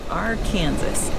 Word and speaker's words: Arkansas: by the r Kansas as they call the Arkansas River here in Kansas and honestly that's the right way to pronounce it our Kansas this is the Allen